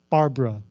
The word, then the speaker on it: Barbara: told number nine Barbara notice how I said that Barra two syllables Barbara always makes me laugh